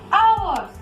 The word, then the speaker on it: hour: Hours. This is not hour. Hour. Here, H is also silent letter and O is first speak letter.